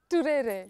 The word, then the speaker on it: Turere: I love pronouncing that name. Say it. There's a way you say it. Richard Turere. Turere.